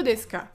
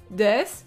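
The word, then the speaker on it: です: demander l'emplacement le lieu deiss s'écrit avec un u mais cette lettre ne se prononce pas ici voici d'autres exemples pour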